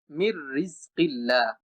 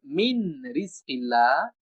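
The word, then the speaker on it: مِن رِّزْقِ اللَّهِ: যদি নুন উচ্চারণ করি মিন রিজকিল্লাহ, এটা কিন্তু অশুদ্ধ উচ্চারণ হবে, বরং আমাকে বলতে হবে এই নুনটা র এর সাথে যুক্ত হয়ে যাবে এবং র দুইবার উচ্চারণ করতে হবে, মির রিজকিল্লাহ।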